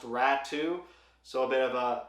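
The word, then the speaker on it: Raty: it's looks like it's ratty but I've confirmed with people of European descent that it is pronounced rat too so a bit of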